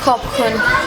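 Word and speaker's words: ขอบคุณ: Khop kun.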